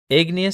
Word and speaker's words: igneous: the episode about Yellowstone igneous sounds like the word ignite it means fire igneous